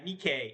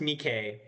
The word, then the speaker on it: NIKKE: It's Yeah, nikke. It's pronounced nikay.